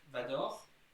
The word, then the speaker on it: Dark Vador: Like Darth Vader it becomes Dark Vador. So they replace the E with the O, Vador, and Darth, so the T and H, by a K, so dark, like the color.